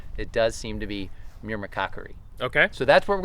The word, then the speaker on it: myrmecochory: yeah so it is I think it's me as in John Meir and then Cocker as in Woodcock are we doing another